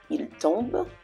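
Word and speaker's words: tombent: Il tombe, same thing. ENT, il tombe. Okay, that T is silent.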